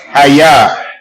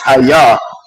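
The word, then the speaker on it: היה: So that I am, it's pronounced Hayah in Hebrew. So if you actually go by the actual term of what it's how it's pronounced, it's Hayah, and Okay, then we're I gonna got go.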